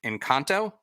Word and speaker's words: Engkanto: yeah let me say let's see if i'm pronouncing this right in kanto yes in kanto from kanto and also the